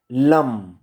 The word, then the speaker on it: लम: हमारे मूलाधार चक्र का जो बीज मंत्र है वो है लम। ल के ऊपर म की बिंदी, लम, LAM, लम।